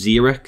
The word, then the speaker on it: Xeric: zerich H I've always known this character as zerich or chambers of zerich but apparently it's pronounced zerich so in the video I may say zerich